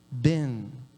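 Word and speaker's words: בן: E a segunda letra para filho é nun. E aí não tem vogal, né? Então se pronuncia ben.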